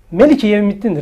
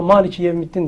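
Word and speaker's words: ملك: Ve Fatiha suresinde de Melik-i Yevmiddin'dir aslında onun esas okunuşu. Ama Malik-i Yevmiddin diye çevriliyor. Bu yine bu Meliki, Melik kısmının geçtiği, Melik ve Mülk kısmının geçtiği farklı ayetler var. Melik diye okunuyor ama orada Malik okunmuyor.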